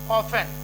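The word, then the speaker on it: often: T silent कब होगा? यदि किसी शब्द के अंत में 10 या टच, एक शब्द और है 10 या टच आता है तो उसमें T साइलेंट रहता है, जैसे ऑफन, तो 10 जो है ये पूरा साइलेंट हो जाएगा ऑफन।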